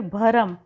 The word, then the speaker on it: भ्रम: फिर भरम, भरम नहीं होता है भ्रम होता है, भ के पैर में मात्रा लगाएंगे और लिखेंगे इस तरह से भ्रम।